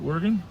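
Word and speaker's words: Wergin: Worggan.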